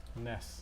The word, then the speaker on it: NES: NES. They told you NES. Nintendo Yes. Entertainment System. They told Right. you. They told you how to pronounce it, and then it's NES. Ness. NES. Like Howard and NES.